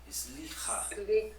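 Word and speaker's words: סליחה: É uma respiração no final da palavra, tá? Sim. Então seria, ó, sliha.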